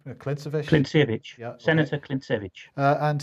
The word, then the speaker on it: Klintsevich: So here is Franz Klintsiev. Is that how you pronounce his name? Klintsevich? Klintsevich, Yeah, okay.